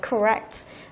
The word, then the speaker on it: correct: Để gọi là correct. Đấy thì trọng âm chính của từ là rơi vào âm thứ 2.